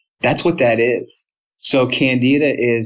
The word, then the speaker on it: Candida: Oh, Candida.